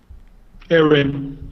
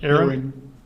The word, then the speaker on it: Aurion: Was it Aaron or Iron? How do you say her name? Aaron. Aaron.